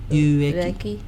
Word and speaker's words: Ueki: Ueki.